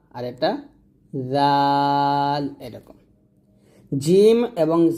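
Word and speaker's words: جيم: জিম এবং জা, জিম যখন উচ্চারণ করবেন জিহ্বার মধ্যখান উপরতলের সঙ্গে লাগাবেন জিম।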